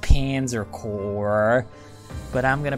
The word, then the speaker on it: Panzer Corps: surprised its Panzer Corps yes I know it's pronounced Panzer Corps but I'm gonna pronounce it Panzer corpse this is an empire one wrong move by